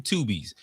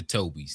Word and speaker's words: Tubies: He could walk away with two Tubies, not to be phonetically mistaken as the Tobies. This is not the Toby Awards.